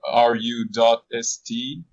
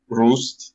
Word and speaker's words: RU.ST: But anyway, so yeah, I've been playing in this band which is called RU.ST, which is kind of pronounced Rust. like Roost.